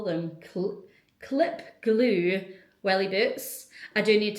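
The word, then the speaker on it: Gloue: It's G L O U E. If that's not pronounced glue, then I don't know what is.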